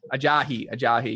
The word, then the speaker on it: Ajayi: Ajayi. How do you say his name? I think it's Ajayi. Ajayi, yeah.